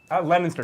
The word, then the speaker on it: Leominster: Leominster, correct.